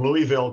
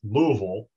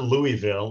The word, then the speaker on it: Louisville: He is based in Louisville, Kentucky, and he would be horribly embarrassed to hear me say that because he explains that it is pronounced Louisville. It is not Louisville, it's Louisville.